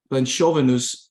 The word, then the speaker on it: Planszowe: I can't pronounce. They say Planszowe news is very simple. Planchovenus mural, right?